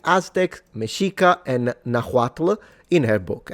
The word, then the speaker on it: Mexica: Those native people refer to themselves as the Mexica. Now, the article tells me to pronounce it Mexica. I heard that it was Mexica, but I don't know.